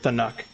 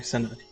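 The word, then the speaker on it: Sinuck: I heard Thanuk. Sorry, Sanuk.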